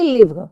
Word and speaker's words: livres: des livres, des livres. Des We don't livres. pronounce, we don't pronounce the final consonant, it's silent.